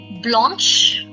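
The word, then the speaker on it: blanche: We the same rules swami that these capital letters are always pronounced and the feminina is blanch and blanch.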